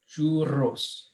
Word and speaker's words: churros: side by side, it's you have to roll the R's. Yeah. So that is a challenge for everyone. Yeah. Say churros. Churros.